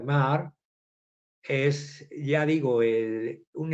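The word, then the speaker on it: Maher: disparos se llama Robert se escribe maer con h intercalada se pronuncia Robert mar es ya digo el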